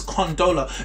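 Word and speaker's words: Condola: right first of all her name is Khandala it's only 3 syllables second of all before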